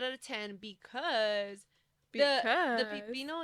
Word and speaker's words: pepino: No, it's because you keep saying pipino. I said pepino. It's pepino.